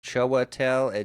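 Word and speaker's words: Chiwetel: Choatel edg4 is what the pronunciation thing says.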